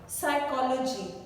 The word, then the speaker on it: psychology: Psychology, it is starting with P and not with S, but P is silent letter in a word psychology.